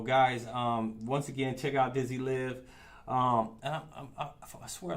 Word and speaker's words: Dizzy Liv: Look, the last time you said, but this. See, look at that. I told you I did. I be chopping. But you said it right, Dizzy Liv.